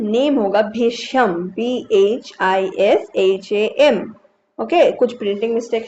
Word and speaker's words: Bhisham: तो कुछ भी ऑप्शन लिखा हो थोड़ा सा देख लेना, क्या भीष्म है या भीषम है। तो भीषम ही होगा। थोड़ा सा स्पेलिंग का एरर है इसमें, BHISHAM। ओके, HAM हो जाएगा, भीषम।